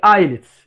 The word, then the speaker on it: islets: جزيرات لانجرهانز، islets of Langerhans consist of pancreatic islets، يعني جزيرات البنكرياسية اللي تطلق أو يطلق عليها اسم islets of Langerhans. طبعا هاي الاس صامتة ما تلفظ، islets of Langerhans.